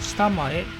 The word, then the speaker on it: 下前: 反対側のことを今度は下前というふうに言います。